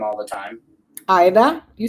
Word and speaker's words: Aida: Aida, you said it right. Aida, yep. See, because a lot of people say Ada. No, that's not correct.